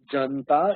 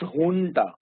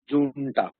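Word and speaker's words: junta: ju juu and ta it's not pronounced janta it should be pronounced hun the pronunciation should be hun because in Spanish J is H so it should be hun but many people still insist on pronouncing it as Jun the more acceptable pronunciation is Hun remember that it's a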